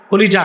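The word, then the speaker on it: قلب: অনেকে বলে কাল্ব, কাল্ব মানে কুত্তা, উচ্চারণ হবে কল।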